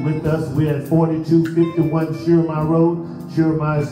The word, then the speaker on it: Schurmier: We're at 4251 Schurmier Road. Schurmier is spelled S-C-H-U-R-M-I-E-R, Schurmier Road, Houston, Texas, 77048, USA.